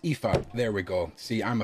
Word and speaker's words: Aoife: Pronounce Aoife.